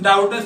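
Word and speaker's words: doubtless: ठीक है, अब इस डाउटलेस में देखिए बी शब्द भी आता है, तो बी साइलेंट होता है, बी को हम लोग नहीं पढ़ते हैं लेकिन लिखना पड़ता है उसको।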